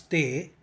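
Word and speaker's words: ت: In order to pronounce Te, you need to place the tip of your tongue behind the upper frontal teeth. Push your tongue to say Te. Please remember that when you start to pronounce Te, you actually start with the Hindi Tamil letter Ta sound or English letter TH sound. But when you are ending up the pronunciation, it needs to end with a slight T sound or Hindi and Tamil letters ta sound.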